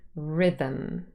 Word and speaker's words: rhythm: of our nasals now what happens sometimes when we say this word fast written um becomes Rhythm rhythm the schwa is really swallowed as I would call it you can't really hear it anymore and the um has become a syllabic consonant and you can see